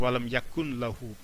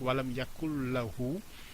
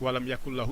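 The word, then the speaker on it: وَلَمْ يَكُن لَّهُۥ: avec le tajwid, on ne va pas dire walam yakun lahu. Le ne et le, quand on les prononce, c'est des sons très proches, donc ce qui fait que le ne va venir s'assimiler au le.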